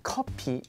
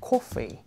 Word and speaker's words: coffee: copy coffee CY coffee So don't say like copy is it more like coffee Yeah you have to